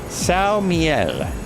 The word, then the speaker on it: São Miguel: It's uh pronounced Siel, Portuguese for St.